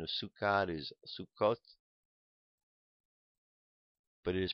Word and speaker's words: Sukkot: of wandering the Hebrew pronunciation of sukad is sukot but it is pronounced as is Yiddish rhyme with bukas the